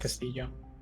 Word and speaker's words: Castillo: It is Castillo. Spanish. You don't pronounce the L.